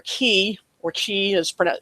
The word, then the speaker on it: Chi: after the Greek letter key or Chi is pron Chi is how it's typically spelled pronounced key um that's the letter